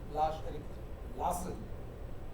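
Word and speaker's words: Lars-Erik Larsson: uh Swedish composer lash Eric lass that's how pronounced lash Eric Lassen Scandinavian composer and this is from scata for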